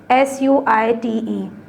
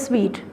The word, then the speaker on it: suite: And then there is another word, SUITE. I wish I could use that board. SUITE. You can write it here. Okay. How do you generally pronounce this word? It is sweet. It is not suit.